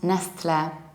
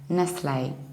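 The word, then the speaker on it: Nestlé: and another tricky one it's not Nestle do you remember how we pronounce the French or Italian endings final accent aigu was a Italian ending for example from penne was a and here we will do analogical same we will say Nestle if you don't know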